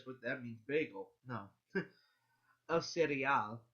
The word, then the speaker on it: el cereal: El cereal. That's how you pronounce it. El cereal. Okay. Now a lot of people will say cereal, because they're not pronouncing every single letter, but pronounce every single letter.